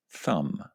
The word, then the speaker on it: thumb: It is a silent B at the end of this word, thumb.